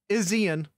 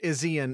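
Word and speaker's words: Izien: No, Izian. I'm almost certain Izian is the correct pronunciation on that.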